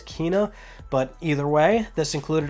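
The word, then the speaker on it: Kena: soul storm then a kenneth bridge of spirits which i guess i'm saying it wrong because the way that it was pronounced was kina but either way this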